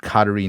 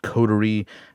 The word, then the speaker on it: Coterie: have to fix and it didn't pronounce the name of the website correctly it said cottery not codery and so I need